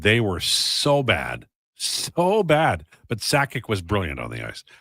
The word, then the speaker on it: Sakic: And in the interest of keeping our Canadian citizenship, I think it's important that we pronounce it correctly. Joe Sakic, as Bob Cole would say.